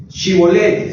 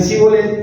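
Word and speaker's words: shibboleth: Como eran de otra región, ellos no podían pronunciar bien la Shibolet. Si no pronunciaban entonces bien y decían cibolet, ellos lo degollaban.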